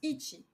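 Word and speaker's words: 一: 2 donc 2 1 ça c'est ça se prononce Ichi Ichi de c'est ni si tu veux bien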